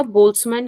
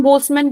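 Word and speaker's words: Boltzmann: है तो यह आपका बोल्स मन कांस्टेंट हो गया एकली हम बोमन बोलते हैं बट एक्चुअली इसका प्र बोल्स मान है बट ठीक है बट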